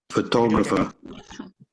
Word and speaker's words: photographer: it for you photographer so just imagine there is no r in this world there is no just say photographer can you say photographer photo photographer forget about the r there is no r